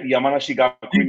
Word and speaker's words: Yamanashi Gakuin: Yamanashi Gakuin University?